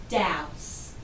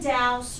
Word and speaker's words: douse: Our first word is douse, and douse rhymes with mouse, so that helps me to remember how to pronounce it.